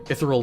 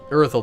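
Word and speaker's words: Irithyll: I believe there's a couple of things that I want to get from the Ethereal Dungeon. Or... Irithel Dungeon.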